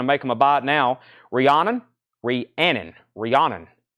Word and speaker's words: Rihanna: them a buy now Rihanna Rhiannon Rhiannon well I always butchered her name Ree you gotta say it fast that is 39.99 good